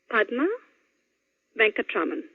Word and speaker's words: Padma Venkatraman: And the last syllable is Man. Well, just like I said it. So, here's how it goes then, all together. Padma Venkatraman.